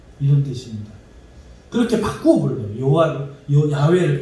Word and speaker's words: 야훼: 그리고 아도나이는 주님이라는 뜻이고, 야훼는 여호와고, 여호와 우리 한글로 여호와고 본 발음으로 하면 조금 야훼 비슷하게 이렇게 소리가 난대요.